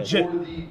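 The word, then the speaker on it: Jitte: Or Jit, which would be the English. There's no universe where it's pronounced Jeet.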